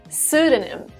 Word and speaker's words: pseudonym: pseudonym yes not pseudonym pseudonym the first p is silent a pseudonym is a